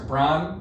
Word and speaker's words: Brian: Brian rhymes with wine. You know, well, Brian. That's how you B-R-I-N. make your turkey taste really good too. Is in a brine.